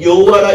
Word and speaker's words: 여호와: 때 여호와하고는 야훼라고 하는데 세 글자로 표현이 되지만 그걸 여호와라 읽을 수도 있고 야훼라고 읽을 수도 있어요.